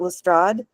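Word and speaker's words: Lestrade: And and that brings me to um are we're going to pronounce it Lstrad because everybody outside of pronounces it LRA.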